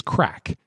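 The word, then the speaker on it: craic: My nerd word is crack. But not spelt the way you think it's spelled. It's spelled C-R-A-I-C.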